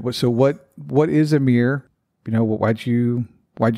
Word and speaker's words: Amyr: the a mere meme I'm gonna pronounce it slightly differently and call it a mere and refer to the